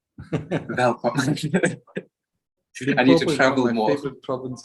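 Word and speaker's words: Welkom: It's pronounced welcome, not welcome. Welcome.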